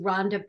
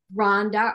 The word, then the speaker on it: Rhonda: Because if you've ever had a chance to see Rhonda Pierce from Schmetz Needles do a seminar, she does them at expos and different things, take her class.